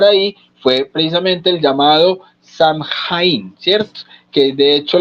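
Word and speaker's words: Samhain: fue precisamente el llamado Samhaja, ¿cierto? Que de hecho la palabra es gaélica y la pronunciación como tal es. La la pronunciación de eso es Swin.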